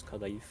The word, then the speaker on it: kadaif: I think the actual way to pronounce the dessert is kadaif, but at least in its original form.